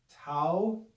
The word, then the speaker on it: tau: have the consonant tau this is pronounced tau looks like an uppercase